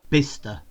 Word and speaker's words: Bicester: Okay, so Bicester, we just forget that C is in there. We just pretend that we don't see the C. We don't see it.